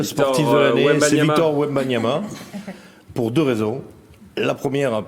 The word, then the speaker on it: Wembanyama: Victor Wembanyama, pour deux raisons. La première, parce que je m'étais promis de pouvoir prononcer Wembanyama. Donc je l'ai fait, ça a marché. Victor Wembanyama, 3 fois. On peut dire Wemby apparemment aussi.